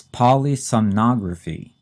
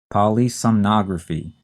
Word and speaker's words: polysomnography: kind of a tricky one to say and spell it's polysomnography polysomnography p o l y s o m n